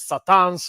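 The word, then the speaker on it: C'tan: they revealed to be a race called the Catans, which could be actually pronounced as Satans, which all the whole thing, Christian lore about Satan and such.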